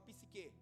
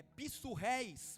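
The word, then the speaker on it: ψυχή: Quem já ouviu falar dessa palavra psique? Psique, no grego original não é dessa forma que fala. É pissurreis o nome. Essa é a pronúncia da palavra.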